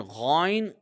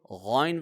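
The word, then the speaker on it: غ: And Ghayn comes from the top throat. from this place, from this very place, the letter kha is also produced. However, kha and ghain, despite of the fact that kha and ghain being heavy letters, both of these, however, kha is more harder and ghain is a softer version. Okay, ghain will be read softly, whereas kha is read hard.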